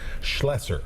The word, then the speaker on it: Schlesser: Okay, it's SCHLOE, so it's Schlesser.